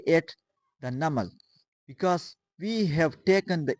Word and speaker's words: NUML: But in the acronyms, we pronounce the word as a whole. Like for example, we have pronounced the word National University of Modern Languages NAML as a whole. We didn't define it as NUML. We pronounce it as NAML.